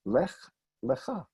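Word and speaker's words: לך לך: There it comes to an end, and this shva marks the end of a syllable, lech. It's hyphenated to the next word. Le, and this is the shva that does tell me there's a little bit of a sound there. Lech lecha.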